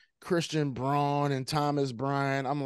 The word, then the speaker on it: Braun: Like, when you start bringing in like Christian Braun and Thomas Bryant, I'm like, all right, I don't know if I can. You know what the crazy thing is? You know he pronounces his name Christian Brown.